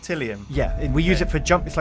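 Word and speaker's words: Tylium: Is that how it's pronounced? Tillium?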